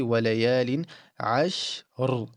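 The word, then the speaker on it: وليال عشر: But the sheen gets an empty mouth because sheen is an empty mouth letter. So you will say walayalin ashr, walayalin ashr.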